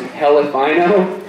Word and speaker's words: Elephino: Next, I'd like to introduce Elephino, pronounced Helephino.